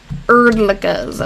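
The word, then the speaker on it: Hrdlicka: Oh, there's a bunch of Erdlickas. Okay. Wow. On Iowa Graves. Okay, so that's what it is then. Erdlicka, I would pronounce it with a silent H.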